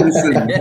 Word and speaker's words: Christensen: Say his name correctly. Christensen, God's sakes.